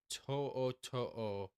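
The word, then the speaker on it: To'o To'o: okay here we go to to looks like tutu but with apostrophes in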